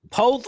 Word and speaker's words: Poth: Poth rhymes with both, right?